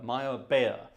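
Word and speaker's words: Meyerbeer: The Prophet by Giacomo Maya beer Maya bear it should be pronounced uh a sort of German Austrian not Italian composer um wonderful the coronation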